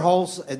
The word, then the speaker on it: Perholtz: Perholtz, am I pronouncing that right? Yeah, you got it.